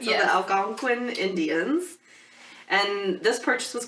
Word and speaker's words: Algonquin: The Algonquin Indians.